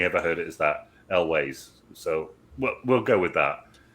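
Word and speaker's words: Elwes: Carrie Elways. Elways. Okay. I was actually thinking this earlier. I've only ever heard it pronounced as Elways, as in Ways.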